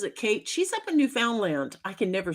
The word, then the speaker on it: Newfoundland: missed I misspelled that Newfoundland rhymes with understand so Newfoundland Newfoundland Newfoundland Newfoundland like we just discovered new land duh it finally clicked